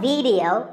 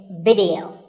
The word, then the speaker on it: video: watching right now video the important thing is that both the i and the e are pronounced as short if sounds it's not video it's video if you watch a video on youtube or facebook